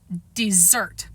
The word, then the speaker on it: Desert: Southwest Harbor is on an island called Mount Desert. She pronounced it dessert.